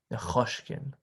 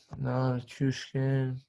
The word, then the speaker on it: Nichushkin: Val Nichushkin. Nechushkin. You're so cautious. Okay. No, Nichushkin. I don't care.